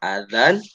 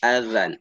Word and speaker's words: azan: jadi ketika kita mengucapkan Adzan bukan adzan bukan adzan tapi azan azan azan azan azan azan azan Jadi bukan adzan bukan ada orang Betawi